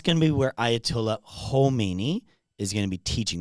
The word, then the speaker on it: Khomeini: there's Khamenei and you might be like you're pronouncing it wrong. I we're just going to be very clear. There's Khomeini and Khamenei, okay?